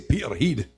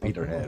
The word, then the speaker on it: Peterhead: Now, the way that we say this in Scotland with our thick accent, we'll say Peterhead. That's how you say it, Peterhead, right?